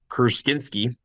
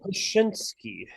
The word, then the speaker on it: Krasinski: John Kruskinski. Close enough. I'm going to give it to you. Is it John Jeff? Krasinski.